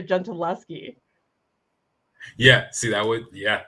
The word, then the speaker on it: Gentileschi: it um artemisia gin gentilsky how do you say it well i mean i'm not italian but the the correct sort of pronunciation artemisia gentileschi yeah see that would